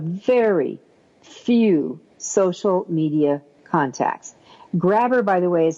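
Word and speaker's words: Grabbr: Next up, how about something called Grabber?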